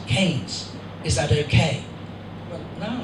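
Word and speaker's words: Keynes: E Y, N, but here in the village we prefer to pronounce it Kees.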